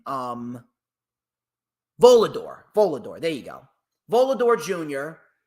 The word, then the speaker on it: Volador: v v or vad Jr how do you pronounce his name um volador volador there you go volador Jr haiiro or H